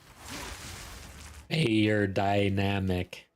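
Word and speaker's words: Beyerdynamic: Bayer dynamic.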